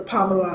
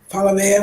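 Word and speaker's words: palaver: Remember, that had the fish in it, and I know that was the Pablo stew. I know I'm saying it wrong, Palavea stew.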